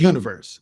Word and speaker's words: Unyverse: Oh yeah, the name of the game is Universe. We spell it U N Y V E R S.